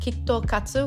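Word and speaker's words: キットカット: KitKats in Japanese are pronounced kitto katsu, which can also be translated into you're bound to win or never fail.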